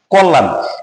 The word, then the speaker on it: কল্যাণ: কল্যাণ, কয়ের সাথে কোনো কারণে, তার মানে এর সাথে একটা উচ্চ অবস্থায় আছে অ, ওয়ের ঠিক পরের বর্ণের সাথে আছে জফলা, তার ওয়ের উচ্চারণটা হয়ে যাবে ওকার, কয়কারে কো।